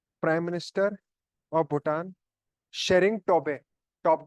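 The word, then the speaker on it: Tshering: prime minister of Bhutan शेरिंग टोबे टॉप के prime minister of Bhutan शेरिंग टॉप के king है शेरिंग टी सलेट रहता है टॉप के टॉप के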